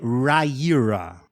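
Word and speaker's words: Riyria: i a Tá OK agora entendi e a pronúncia é Raira certo bem parece que você arrotou Mas beleza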